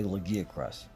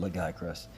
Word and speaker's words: Lagiacrus: Moral Ludroth, a Gobel, and a fan favorite, the Lagiacrus. I like to pronounce it Lagiacrus.